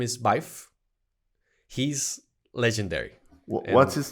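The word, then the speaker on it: Byf: the uh my name is my name is biff he's legendary what's his name my name is biff and biff is spelled b-y-f i highly recommend his videos because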